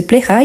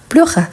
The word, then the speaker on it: plaira: chose que te plaira donc le correct c'est plaira et pas pleura je fais exprès pourquoi parce que la prononciation les côtés son c'est très proche donc quand on a